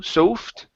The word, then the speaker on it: soft: see here soft okay instead of So Soft okay this is an a sound it's soft looking chest